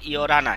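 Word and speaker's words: 열하나: এই রিউলটা হিয়তের এখানে এসে র উচ্চারণ হবে। কি উচ্চারণ হবে? র। তাহলে এটা হবে ইয়রানা।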